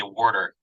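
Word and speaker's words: water: the owner could say "Warder." That's how they say it in Philly over there, I guess.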